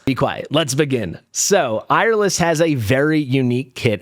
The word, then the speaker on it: Eirlys: Maybe we could also call her Airl is what it seemed to be to me when I looked up her pronunciation online. So, that's what I'm going with.